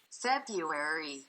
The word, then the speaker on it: February: Someone reached out and said that I stressed the R in February too much, and the correct way to pronounce it is February.